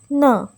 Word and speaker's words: 呢: Ma and na are similar in the following ways. Both go at the end of a statement. Both of them can form questions. Both of them are pronounced in neutral tone.